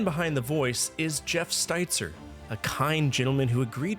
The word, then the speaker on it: Steitzer: luxury of sitting down and talking to Jeff Stitzer pronounced it right this time that time mhm awesome